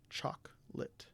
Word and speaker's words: chocolate: or camera we pronounce it cam ra again chocolate chocolate we pronounce it choc lit we don't pronounce it i think i may